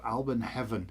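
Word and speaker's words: Alban Hefin: And in our tradition, we call it Alburn Heaven. Heaven. Fs are pronounced as a V. So, Alburn Heaven.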